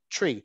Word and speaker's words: tree: So again, we're differentiating between the pronunciation of tree and three. So we're using a stimulus in nature in order to learn a pronunciation point, the difference between t and th, and then they can practice that.